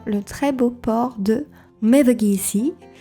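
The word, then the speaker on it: Mevagissey: À quelques minutes des jardins, nous avons le très beau port de Mevagi. Donc avec une prononciation française, ça donne Mev JC, un petit peu moins charmant.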